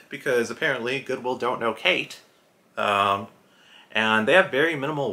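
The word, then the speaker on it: Khaite: It is Kate. I think that's how it's pronounced.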